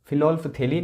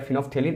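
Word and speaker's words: phenolphthalein: इसको फिनोल्फथेलिन या फिनोल्फथेलिन ऐसे भी इसका जो प्रोनाउंसिएशन जो है वो किया जाता है, तो आप अपने सुविधा के अनुसार इसका उच्चारण जो है वो कर सकते हैं।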